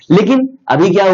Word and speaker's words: Koo: है जिसमें वो स्विच कर रहे हैं, वो है कू। आप पता नहीं इसको कहते कैसे हैं, बट मैं इसको प्रोनाउंस कर रहा हूं कू, KOO।